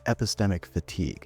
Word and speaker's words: epistemic fatigue: It’s a cognitive paradox — something psychologists call epistemic fatigue. (Pronounced: eh-PIS-teh-mik fuh-TEEG) It’s the exhaustion that